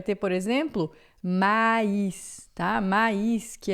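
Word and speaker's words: maïs: Quando tem o trema, você pronuncia separado, tá?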